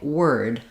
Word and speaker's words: word: uh or ur but basically it's the same as in the word were um where that those letters e r do say for were.